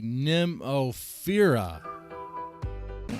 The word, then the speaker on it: Nemophila: respect it up we've been pronouncing it wrong this whole time it's actually Nemo fira again I think